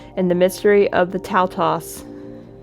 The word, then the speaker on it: Taltos: Okay, I was like really mispronouncing it. It's Taltos.